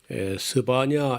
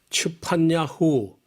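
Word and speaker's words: צפניהו: 오늘 우리 만나볼 예언자는 스바니아 우리 말은 좀 부드럽게 스바냐 이렇게 음력을 했는데 제대로 한 반역 발음이 쉽지 않지만 츠판야 후 원래 이름은 추파니아 후우라는 말인데이 말은 여호와는 숨겨 주신다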